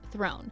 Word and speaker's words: Theron: It's actually pronounced Throne, with a French R because it's actually a French name.